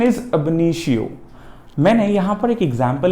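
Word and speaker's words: ab initio: The pronunciation is अबनीशियो।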